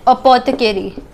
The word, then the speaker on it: apothecary: The 4 Ps were Palmer, Pardoner, Paddler, and Apothecary. Now apothecary is pronounced like that the A is silent, therefore it is the 4th P.